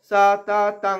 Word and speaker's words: সততং: তসমাদসক্তস সততং, সততং অনুস্বারটা এখানে উঙা উচ্চারণ, উঙ্গ, ক খ গ ঘ উঙ্গ, সেই উঙ্গ উচ্চারণটা হবে।